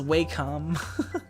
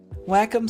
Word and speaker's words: Wacom: a little annoying wacom sounds dirty yeah yeah doesn't it like it it sounds like you're saying like wacom like like like whack the moles like like playing whack-a-mole you must restart your